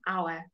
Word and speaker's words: hour: it's going to take an hour because the hour is there is an O sound our to get there then